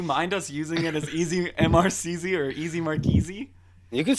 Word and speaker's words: EZ Mrcz: So Easy Mrcz is what it started out as.